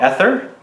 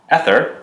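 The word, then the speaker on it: Aether: So the first one that is the honorable mention is a new fragrance line called ESTER, and this is Citrus Ester.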